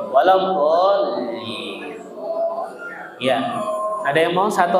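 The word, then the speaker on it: ولا الضالين: Jadi lamnya dinaikin Bapak Ibu dolin gitu baca dolin waladin.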